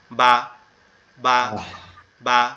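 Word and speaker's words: ب: বাটা আমাদের এই যে ঠোঁটের যে পেট অর্থাৎ ঠোঁটের যে নরম জায়গাটা, উপর এবং নিচের ঠোঁট, এই দুইটা একসাথে লেগে যাবে। বা বা বা।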